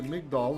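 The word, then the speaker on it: מגדל: He says a tower, that's a migdal in Hebrew, or migdol depending on pronunciation.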